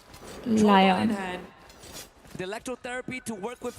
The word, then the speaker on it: Lion: लियोन भी 5th में है अभी. Lion are barely holding on and लियोन अच्छा लायन है उनका pronunciation. Lion.